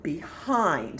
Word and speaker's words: behind: at a time and we see it has ind but that syllable looks like it only has one vowel so we would think it would be short but it's not because it's the special sound eined in kind so we're going to circle